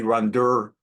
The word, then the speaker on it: Rhonda: And I would say to her, Rhonda, darling, Rhonda, or actually Ronder, because you have to pronounce it New York style.